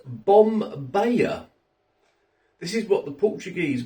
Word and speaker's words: Bom Bahia: side of the box I would have said bomia but on the box here it says pronounced bomb baaya this is what the